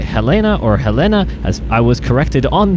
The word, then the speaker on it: Helena: of helena it whether you say helena or helena as i was corrected on the prime news